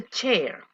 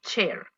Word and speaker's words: chair: What was the chair? Esta pronunciación de silla, yo sé que muchas veces como vemos el AI es chai, no, es con E, chair, como la cantante, vea.